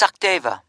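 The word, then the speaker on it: Sachdeva: It's Sakdeva. OK, can you spell that for me?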